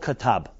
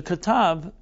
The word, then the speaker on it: Qutb: let's call it extremism, is a man called Katab. It's spelled Qutb, Qatb.